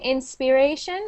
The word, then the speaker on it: inspiration: one inspiration good good so I was hearing inspiration like an e so what you said now is perfect that's an IR sound inspiration okay inspiration say